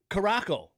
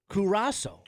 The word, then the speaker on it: Curaçao: Like Caraco, for example. It's pronounced Curaçao. You know, if you were looking at it, you'd be like, "That's Caraco."